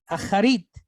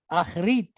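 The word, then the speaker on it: אַחֲרִית: All right, so you could pronounce that acharit or achrit because of the katef, the katef patak. It's so short that you can just kind of drop it a little bit.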